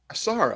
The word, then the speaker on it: Asaro: Let me make sure I'm pronouncing this correctly. Asaro. Asaro. Assaro.